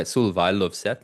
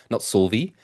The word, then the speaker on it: Solveig Løvseth: But yeah, Solveig Løvseth, not Solvi.